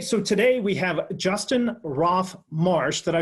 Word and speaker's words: Roff-Marsh: hey so today we have Justin Roth Marsh that I pronounce that correctly you did alright perfect so